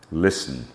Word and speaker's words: listen: some words as in Isle Island eyet T is silent in some words when it when uh is preceded by S Castle fashen listen russle I gave an early example of um